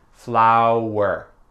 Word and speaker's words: flour: Je sais pas pourquoi, mais sont tous prononcés flower avec le son W.